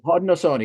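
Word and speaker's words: Haudenosaunee: now who actually prefer to be called the Hodnosone, which is their their their true name. Just trying to figure out how to pronounce that. So, thank you for Yes. Hodnosone.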